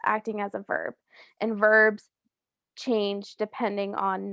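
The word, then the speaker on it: haber: espanol tenemos el verbo aver okay um conjugated it is yo a remember um for all of these verb forms of aver the h is going to be silent right remember in spanish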